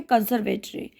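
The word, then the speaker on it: conservatory: और इसमें ई R silent है, ठीक है, कंसर्वेटरी। तो वो मुझे एक कंसर्वेटरी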